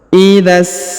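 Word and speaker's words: إِذَا: Idzas sama. Perhatikan huruf dha, langsung sambung ke alif lam syamsiyah. Idza di depannya terdapat alif, tidak dibaca.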